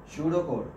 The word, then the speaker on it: Pseudocode: Pseudocode. P is silent here. Pseudocode means how many for loops we are using, how many if conditions we are using.